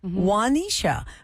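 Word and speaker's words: Juanisha: i s h a how do y'all say that how do it correct wanisha but Kevin imagine how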